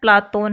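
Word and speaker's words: Πλάτων: प्लेटो शब्द का यूनानी उच्चारण प्लातोन है। अरबी में इसी का विकृत रूप अफलातून है। धीरे धीरे प्लातोन के स्थान पर कालांतर में प्लेटो शब्द का सर्वाधिक प्रयोग किया जाने लगा।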